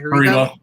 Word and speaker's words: Haribo: Haribo.